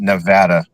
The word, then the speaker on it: Nevada: And it's And it's pronounced Nevada.